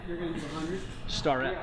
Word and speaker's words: Starrett: going to do 100 starett starett got to have that star in there he's so he's so